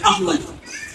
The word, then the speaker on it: احمد: سورہ صف کی آیت نمبر 6 میں یہ نام آیا ہے، اور اس میں الف پہ زبر ہے، ہے ساکن ہے، میم پہ زبر ہے، اور دال ساکن ہے، احمد.